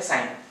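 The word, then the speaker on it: sine: जैसे साइन का पहला तीन लेटर लेंगे, क्या होगा वो साइन को साइन, एस आई एन, इसको सीन मत बोलना, प्रोनाउंस करते हैं साइन।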